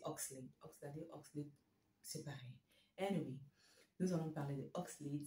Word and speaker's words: Oxlade: allons parler de oxelade au début je croyais que son nom c'est prononçait oxlady enfin c'est son nom de scène je croyais que ça se prononcer aux saladé mais finalement c'est oxel nous allons parler de